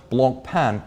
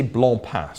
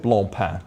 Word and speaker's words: Blancpain: 50s or 60s sub Blanc pan is the answer or I suppose I should say blown pass so you don't get offended there is a proper pronunciation there's also the U.S market when they use the boutiques we'll go with blown path just so everyone's happy now we've said enough